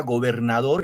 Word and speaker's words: gobernador: Algunas tienen acento prosódico, por ejemplo, como la palabra gobernador, el acento va en dor, y otros tienen acento ortográfico, como por ejemplo la palabra allá que vemos acá.